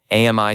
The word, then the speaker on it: AMI: AMI stands for advanced machine intelligence and it's pronounced like the French word for friend.